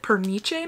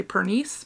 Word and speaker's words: Pernice: Okay, so inside her beautiful package was this project, and I think she pronounced it Perniche Manor, even though in my head I would just say Pernice, but anyways, that's not right.